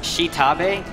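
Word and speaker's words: X'Tabay: I believe it's pronounced Shitabe. It's spelled X''Tabay.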